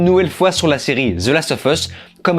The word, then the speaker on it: The Last of Us: il faut absolument que je prenne l'habitude de prononcer The Last of Us et non pas The Last of Us on va repris dans les commentaires et je